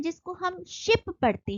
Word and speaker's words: scip: आज modern English में जिसको हम शिप पढ़ते हैं SHIP शिप, ओल्ड इंग्लिश में यहाँ पर SH की जगह SC का यूज होता था, तो SCIP शिप, इसको भी शिप ही बोलेंगे.